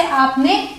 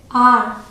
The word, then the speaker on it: are: अब अगला देखते हैं ARE, इसे हम प्रोनाउंस करते हैं आ या फिर आर। फर्क क्या है? वही ब्रिटिश और अमेरिकन का। यूजुअली ब्रिटिश इंग्लिश में र प्रोनाउंस नहीं किया जाता, तो यहाँ पे आर नहीं बोलेंगे, यहाँ पे आर साइलेंट होगा और आ को थोड़ा खींच के बोलेंगे, आ, ठीक है। और वही अमेरिकन इंग्लिश में र प्रॉपर्ली प्रोनाउंस किया जाता है तो क्या बोलेंगे? आर, ठीक है।